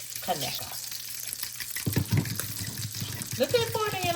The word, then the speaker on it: Conecuh: Conecuh is spelled C-O-N-E, cone, Kaneka.